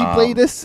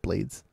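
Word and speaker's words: Blaydes: It might be Bladus, is how you technically say it, but he pronounces it Blades.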